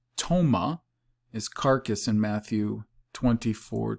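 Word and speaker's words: πτῶμα: omega mu alpha okay toma which i guess you wouldn't pronounce the p tomah is carcass in matthew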